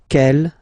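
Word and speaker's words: quelle: same way and then the feminine form is written like that q l l but it's pronounced like the masculine form k at the masculine Kell at the feminine okay so it's basically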